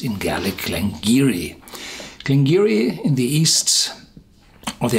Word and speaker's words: Glen Garioch: at the Siri game Giri yes it's written glengarry oh but it's pronounced in gallah clangy ree can giri in the East or the Highlands as i